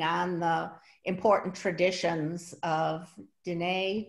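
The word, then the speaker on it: Diné: the important traditions of Dine, did I pronounce that right as well? Mm-hmm. Yes.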